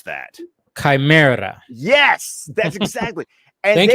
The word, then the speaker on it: Chimera: Because for me, when I see the word Chimera, how do you pronounce that? Chimera.